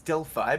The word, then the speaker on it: Delphi: It's Delphi because of the Greek letter phi, which is like the circle with the line through it.